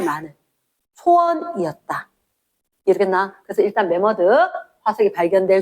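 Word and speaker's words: 매머드: 그다음에 안모나이트 바닥 바닥 친생대 혹 만모스 들어봤나? 만모스 말고 요로 써야 돼요. 메머드로 씁니다. 네모드 발음을 하다 보니까 뭐 뭐이 나라 저 나라 표기법이 다르다 보니까 만모스 이렇게 부르긴 했는데 일반적으로 공식 명칭은 메머드 이렇지 메머드 그다음에 화폐석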